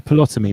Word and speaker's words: Ptolemy: This is the original Greek map where the theory comes from Ptolemy.